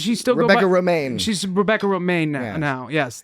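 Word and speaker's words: Romijn: Romaine. She's Rebecca Romaine now. Yes. Now, yes, that's It's been not, a long time. It's not spelled the same way as the lettuce.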